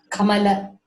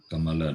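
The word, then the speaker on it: कमल: you can read Kam Kamala Kamala not Kamal it is okay thank you so like IND we should not cut the last vble it should be pronounced as it is next person a course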